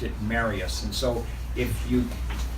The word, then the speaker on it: Marius: they all pronounced it Marius. And so a good way to remember it is when you go to get married, you say, marry us.